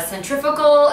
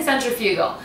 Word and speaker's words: centrifugal: pronounce it but and that's how apparently they say it in the UK and so the American way is to say centrifugal so I'm going to